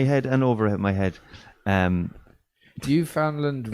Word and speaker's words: Newfoundland: Newfoundland rhymes with understand.